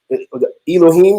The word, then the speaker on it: ELOHIM: I can tell you, your album, ELOHIM. That's what it is. Yes, sir. Am I pronouncing it right? Yep, you definitely got it right.